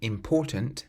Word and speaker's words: important: The next word, meaning important. This one also has two nasal sounds.